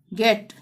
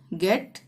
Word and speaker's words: get: Give, गेट, girl, चाहे आई आ रहा हो चाहे ई आ रहा हो, यहाँ पे ग का ही उच्चारण होगा।